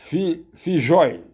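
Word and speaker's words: Filloy: brilhantíssimo ele chama-se Hugo fijói dois L Argentina eles pronunciam como J Então seria f i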